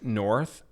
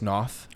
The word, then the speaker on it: Noth: She says, I was saying the guy Chris North from Good Wife, and it's Chris Noth.